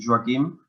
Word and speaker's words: Joaquim: Okay, so Joaquim, is that correctly pronounced? Yes, it is a Catalan name. It's Joaquim.